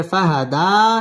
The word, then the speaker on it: فهدى: গুন্নাহ করে পড়তে হবে ফাহাদা এক আলিফ টান দিয়ে ওয়াকফ করতে হবে ওয়াজাদাকা দাল্লান ফাহাদা ووجدك ضالا فهدى واو زبر واو زبر واوا জিম জবর জা, দাল জবর দা, জাদা।